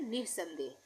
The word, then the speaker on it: निस्संदेह: निस्संदेह, निस्संदेह हम बोलते हैं निस्संदेह, तो निह के लिए ये विसर्ग लग गया, निह बन गया, नि से निह बन गया ये, उसके बाद संदेह, ये बिंदी लग गई, संदेह।